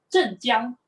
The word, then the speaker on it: 镇江: In the Chinese pronunciation of the Chinese characters is actually 镇江. 镇江黑醋.